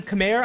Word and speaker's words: Khmer: Like, I mean, Khmer, I believe, is an acceptable, like, English pronunciation, but I think it's,